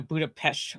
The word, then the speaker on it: Budapest: I I think if I'm going to do the actually meme thing is the st at the end is an ht. So budapesh oresh.